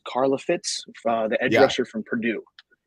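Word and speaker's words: Karlaftis: And what I've heard, it's either going to be Quay Walker from Georgia or George Karloff. I don't know how to say his last name. It's Karlafitz, the edge rusher from Purdue.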